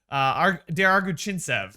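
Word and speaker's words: Semyon Der-Arguchintsev: And then Michael McLeod, Der Arguchintsev, I believe is how you pronounce his name.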